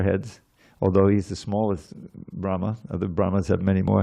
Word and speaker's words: Brahma: Brahma has a long a at the end.